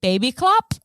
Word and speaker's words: Babyklappe: But in Germany, it's called a baby clap. BABYKLAPPE. Aw. Is that how you say it? Yeah. Baby clap. It means baby hatch or baby flap. Ew. I know. It sounds like flap.